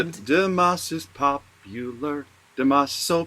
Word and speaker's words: Dimas: Oh, it's not pronounced Dimash with, it's not sh at the end. Sh. I don't believe so. I think it's just an S without the H.